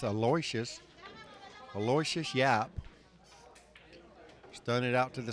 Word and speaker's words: Aloysius Yapp: I did ask him how to properly pronounce his name. It's Aloysius Yapp.